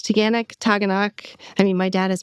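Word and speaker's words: Taughannock: I love the pronunciation of Taganok. Yes. Love it. It's Taganok.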